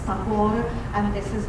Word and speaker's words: Tagore: His English pronounced name is Tagore, and this is how